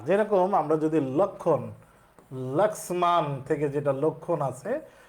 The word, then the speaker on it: লক্ষ্মণ: যেতে চাচ্ছিলাম সেটা হচ্ছে যুক্ত ব্যঞ্জনের সাথে যদি মফলা যুক্ত থাকে তাহলে সেখানে ময়ের উচ্চারণ হবে না। যেরকম আমরা যদি লক্ষণ, লক্ষ্মণ থেকে যেটা লক্ষণ